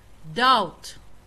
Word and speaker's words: doubt: Second one بي بي death ما دهنا دبت دبت أو قرنت لكن وحلقوا نطقة لغو برنونس كرينا يا death debt debt ودين دين. doubt doubt شكي شك حرف سدح هذا N.